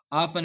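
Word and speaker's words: often: ऑफन में T silent है।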